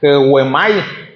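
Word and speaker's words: ἡγέομαι: Y los pastores viene del griego y se pronuncia Heuemai, algo así, y es relacionado a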